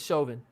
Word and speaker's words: Chauvin: match again again again is that how you pronounce his last name yep is Chauvin okay I asked because